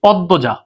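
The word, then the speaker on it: পদ্মজা: পরেরটার উপরে চন্দ্রবিন্দু হবে যেমন দেখ আমি যদি বলি পদ্বজা পদ্বজা শব্দের মাঝখানে দর সাথে মফলা আছে এই মফলার কোন উচ্চারণ হয় না। কিন্তু এই মফলা যার সাথে সেই দ ডাবল হয়। সেই দ কি হয়? ডাবল হয়। এইযে মফলার কারণে এই দকে কি করলাম? ডাবল দিলাম।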